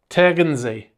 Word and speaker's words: Tegernsee: He also has some at a lake, which I've asked a German friend how to pronounce it so I don't get destroyed in the comments. It is Lake Tegernsee in Bavaria.